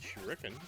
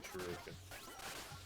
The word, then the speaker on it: shuriken: way my whole life I've never said shuriken it's always been shuken everybody knows said shuken